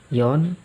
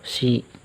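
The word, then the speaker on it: 四: Ini cara bacanya adalah yon atau yo atau si, yang berarti angka 4.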